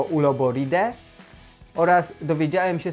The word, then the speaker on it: Uloboridae: chodzi o to, że AE, OE czytamy jako E, czyli nie Uloboridae, tylko Uloboride.